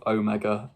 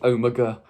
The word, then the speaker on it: Omega: long time I love Omega or Omega I always get told off in the comments because I say it like the American way Omega but Omega that's how they say it in the story I don't know why